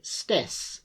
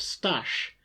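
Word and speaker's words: Staś: She would always say stess instead of stash, and this often caused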